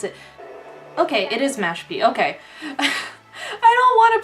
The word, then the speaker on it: Mashpee: also good luck to the how do I pronounce it okay it is Mashpee okay I don't want to pronounce things wrong